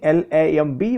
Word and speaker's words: Lamb: another character that is Mr lamb actually spelling l a m b but pronounced lamb be silent okay he was an